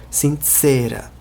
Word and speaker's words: sincera: Por causa do C, que em Esperanto é pronunciado como em pizza. Sincera.